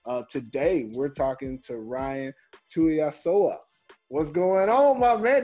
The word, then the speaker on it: Tuiasoa: Today, we're talking to Ryan Tuiasoa. What's going on, my man? Did I get it right? Did I say it right? Hey, you got it right, man. Ryan Tuiasoa, man.